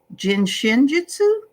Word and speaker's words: Shin Jyutsu: you also bring up is it Shin Jyutsu? Is that how you say it? Exactly. Perfectly. Okay, so it's Jin, right? Right. Shin, Shin. Yeah. And then Jyutsu.